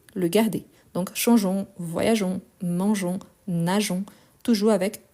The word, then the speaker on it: changeons: Donc, changeons. Je vais vous montrer. Changeons, E-O-N-S. Changeons. Sinon, on a les sons changeons. Donc, pour éviter les sons, on ne prononce pas les E, mais on l'écrit.